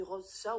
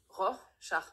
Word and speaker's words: Rorschach: Non, vous avez dit Rorschach, ou je veux pas le savoir, mais on dit Rorschach.